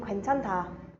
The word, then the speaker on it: 괜찮다: So how are we pronouncing 괜찮다? OA gives me a where sound, so 괜찮다. When these two come together, we get a sound. So 괜찮다, 괜찮다.